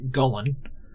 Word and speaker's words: Gullen: And then Trelki, who is a Gullen, is how I'm pronouncing it. It's similar to a Golem, not Gollum from Lord of the Rings, but a Golem as a construct.